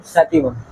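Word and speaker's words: sativum: Harry Potter के मंत्र जैसा लगता है, पाइसम सैटिवम लैटिन वर्ड है तो टी प्रोनाउंस नहीं करते, टी को ता बोलते हैं, तो सैटिवम।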